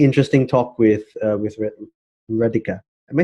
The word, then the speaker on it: Radhika: yeah really really interesting talk with uh with retica am i saying it right i keep thinking yeah radhika radhika um so redika i wish you all